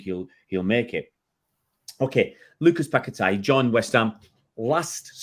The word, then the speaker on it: Paquetá: I think yesterday I was calling him Paquetá, but it's Paquetá. Apparently, I have listened to the Portuguese pronunciation, and the player that might be going the other way, it's been linked.